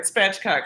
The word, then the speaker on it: spatchcock: goodness okay so you're speaking a foreign language spatchcock am I saying that right yes yes you're saying it right spatchcock it just means to open up the back